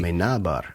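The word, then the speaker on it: Amenábar: You're going to have to teach me how to pronounce it properly. Amenabar, yeah.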